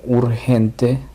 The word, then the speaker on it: urgent: Otra palabra como urgente, la G se pronuncia en este caso Y, o sea, sería urgent, urgent.